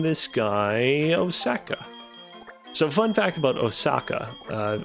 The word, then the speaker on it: Osaka: off of um Osaka the first syllable in its name is actually very long it's Osaka uh no hold on